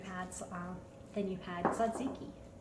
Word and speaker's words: tzatziki: um then you had zaziki and it's spelled with a T it's TZ a oh and I almost